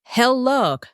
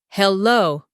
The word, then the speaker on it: hello: It's hello with the stress on the second syllable, not hello.